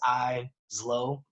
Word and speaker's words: Eizlo: So it's Eizlo, Lo. Yeah. So the E is silent, motherfucker. It's like, basically, the eyes be low, and then I don't